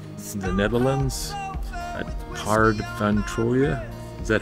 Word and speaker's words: Troje: We're in Den Haag in the Netherlands at Paard van Troje. Is that how you pronounce it? Probably bad. Is it Troje?